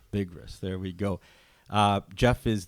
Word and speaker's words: Bigras: That's Bigras. Bigras.